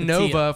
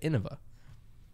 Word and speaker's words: Innova: you're innovating just say I said Nova for a long time until I watched a YouTube video and it was realized that they said Innova I also pronounced Kona